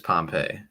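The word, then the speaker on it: Pompeii: well as corn flatten I tend to believe that's not how it's pronounced I believe it's Pompei hold on hold on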